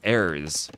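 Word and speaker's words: heirs: And then there are your errors, which is pronounced slightly differently because the H is silent.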